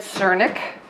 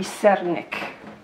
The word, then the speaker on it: sernik: name of this correctly I said Cernik the correct pronunciation would be 7ik so I guess we've